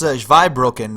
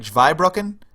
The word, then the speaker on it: Zweibrücken: You said it's pronounced Zweibrücken, right? Like Zweibrücken.